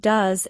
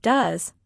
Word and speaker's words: does: The word does is pronounced like does, not like do e s. Many learners try to pronounce it exactly as it is written. But in natural speech, it sounds short and soft.